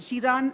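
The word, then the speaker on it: Xiran: Chinese her name is it's x-i-r-a-n so it's shiran I think I'm not sure yeah yeah so okay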